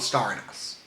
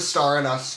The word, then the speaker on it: Star in US: I call it Star and US. It's the Star and US tour.